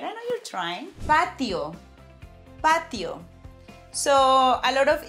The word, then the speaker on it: patio: So now when you want to take your drinks al fresco, don't say that you want to go to a patio. Say patio. Pay attention to the way you're saying letter T.